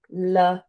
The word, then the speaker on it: Lorraine: Okay, so for example, my name is Lorraine and I pronounce it Lorraine with the emphasis on the second syllable.